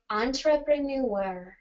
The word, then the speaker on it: entrepreneur: for example something like entrepreneur can you say that one for me entrepreneur i'll try entrepreneur perfect yep so it's ontra yeah so that one's